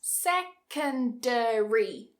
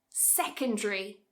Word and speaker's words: secondary: Secondary, 4 syllables. Secondary. Cut a syllable. Secondary. Get that d and r? This time we're going to make more of a j. Secondary, secondary, secondary.